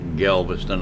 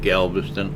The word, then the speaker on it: Galveston: guy's channel name wrong it's not Galviston Island audience it's Galveston Island transparency well I don't see